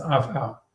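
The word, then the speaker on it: עפר: de la poussièreouar afar ça s'écrit avec un ain et après oui ça se prononce afar et Voilà.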